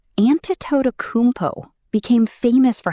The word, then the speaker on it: Antetokounmpo: For the record, it's approximately Antetokounmpo.